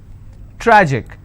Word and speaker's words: tragic: Tragic, tragic, I will stress on tra.